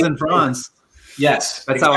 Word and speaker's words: Franz: Franz and Franz.